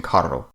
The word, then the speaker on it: carro: Finally, a double R is trilled, such as in carro.